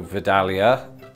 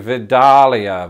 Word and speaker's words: Vidalia: doesn't work for anybody I think the the emphasis though is probably going to be on that middle syllable so Vidalia Vidalia there's Dal again Roald